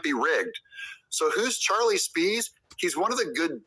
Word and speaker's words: Spies: this Democrat operative and his name is Charlie spies it's actually pronounced Spees but um this is